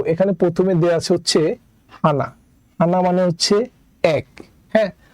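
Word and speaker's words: 하나: হানাটা কিভাবে হলো আমাদের প্রথমে আছে হচ্ছে হিউ হিউতের সাথে আছে হচ্ছে আ তাহলে হবে হা আর পরেরটা আছে হচ্ছে নিউ নিউ এর সাথে আছে আ তাই হবে না তাহলে উচ্চারণ হবে হানা আর হানা মানে হচ্ছে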